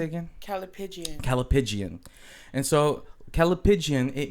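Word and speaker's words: callipygian: Calipigian.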